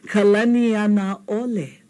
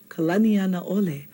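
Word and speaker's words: Kalanianaʻole: Kalaniana ole. Kalaniana ole. Okay? Because he was a great ali'i who helped his people, with homestead land, and we should give him some honor by saying it right.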